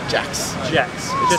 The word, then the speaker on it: Jaksch: Jaksch. It looks a lot more complicated than it actually is.